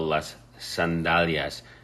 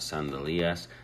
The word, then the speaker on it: sandalias: I'm sure you can tell las sandalias. The key here is pronouncing it correctly. Las sandalias, not sandalias.